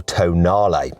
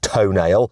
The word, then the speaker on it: Tonale: the new alfa romeo tonale yes i know it looks like it's pronounced toenail but it isn't okay i checked with some italians anyway the tonality is